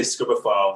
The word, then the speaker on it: Scribophile: I belong to many over the years, but the one I recommend is the way you pronounce it is kind of debatable, but I say Scribophile.